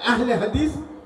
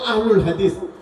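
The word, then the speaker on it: أهل الحديث: আহলুল হাদিস এটা দুই ভাবে পড়া যায়, আহলে হাদিস অথবা আহলুল হাদিস। আহলে হাদিস এটা হলো উর্দু অথবা ফার্সি প্যাটার্নে বা পদ্ধতিতে আমরা পড়ি আহলে হাদিস। আর এটা আরবি ভাবে যদি আমরা উচ্চারণ করি তাহলে আহলুল হাদিস।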